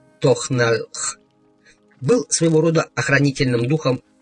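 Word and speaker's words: тональ: Я знал, что Таналь произносится как Тохналх, был своего рода охранительным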